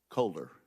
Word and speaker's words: Kohler: witness I bet likes to have her name pronounced correctly so colder colder okay you are recognized for five minutes Thank You chairman wicker ranking member Cantwell and members of the committee my name is Dion Kohler and I'm a professor of law and the